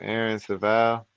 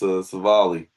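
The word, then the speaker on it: Civale: I don't even know how to pronounce his name. Aaron Saval. He used to pitch for the Cleveland. Uh it's Savali.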